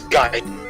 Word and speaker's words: Gaiden: I always don't know if I'm pronouncing that wrong. It's Gaiden. It's Gaiden.